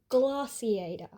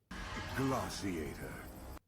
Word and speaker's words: Glaciator: I hear gliator kind of like glass. glossiator because it's French and it more so comes from a French word which has been used to describe frozen edibles and in general is used as the generic word for ice cream.